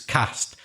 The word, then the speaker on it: caste: to describe social groups that's see a st e at the end you don't expect that to be near at pronounce like that you expect it's gonna be cast don't you but it's not it's cast see a ste that's strange pronunciation what is a cast